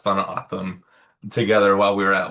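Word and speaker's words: Tohono O'odham: We all learned how to pronounce tham together while we were at Lamour Hughes.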